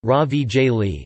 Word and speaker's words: ravioli: Ravioli, Italian pronunciation, ravigli, singular, raviolo, are a type of dumpling composed of a filling sealed between two layers of thin pasta dough.